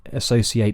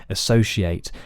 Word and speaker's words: associate: s in associate so a lot of people will say associate with an S and that's correct in the dictionary as is an sh sound a sh so some people will also say associate and again that's equally as correct in the dictionaries same